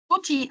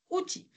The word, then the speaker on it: outil: Outil, on ne prononce pas le L, hein? Outil.